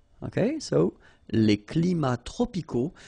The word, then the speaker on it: tropicaux: So you can see that even if we've got the plural form here, S, we don't pronounce the S, and then we don't pronounce the T either. Les climats tropicaux. Final X not pronounced.